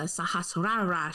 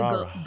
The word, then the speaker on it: Sahasrara: Pronounce this. Our last chakra, Yes. the crown chakra, aka the Sahasrara chakra. Gesundheit. I know, right? Fucking holy. It's like the most awkward one. You just have to Sahasrara.